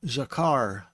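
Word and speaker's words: זכר: You may recall hearing this word before being called Zakar, but in Hebrew they don't say the R the way that we do in English. They say it more like the people in England say the word R, as far as being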